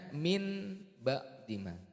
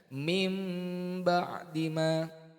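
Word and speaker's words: مِنْ بَعْدِ مَا: Bukan dibaca min ba'dima, tapi dibaca mim ba'dima.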